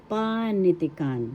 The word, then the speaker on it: panitikan: Panitican. The first syllable is where the accent is.